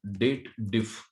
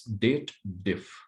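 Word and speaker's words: DATEDIF: of excel naming called date diff what is that date diff people does the wrong pronunciation over here they believe that it is the combination of date and if formula they read it as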